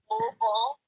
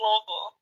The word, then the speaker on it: Louisville: Louisville, right? Where? Yeah. Oh, no, don't you dare say it like that. Why? Louisville. I'm from Louisville. Louisville, yeah.